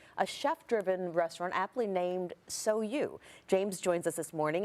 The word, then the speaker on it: SOU: It's SOU. SOU. Some people have a lot of troubles pronouncing it, but you know, Sal, this, that.